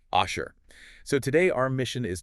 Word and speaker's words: אֲשֶׁר: And that word is kanala, pronounced asha. Yes, asher.